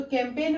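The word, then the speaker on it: campaign: means होता है अभियान तो कैंपेन में जो एन से पहले जी है वो है साइलेंट ओके नेक्स्ट वर्ड है सेपन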